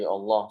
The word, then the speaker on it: Allah: pertama yang harus diperhatikan lamnya ini panjang jadi Allah Allah kemudian haknya ini harus